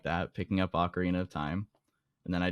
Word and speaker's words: Ocarina: ocarina yeah arena yeah ocarina is how you're supposed to say the ocarina not an oak arena but yeah yes and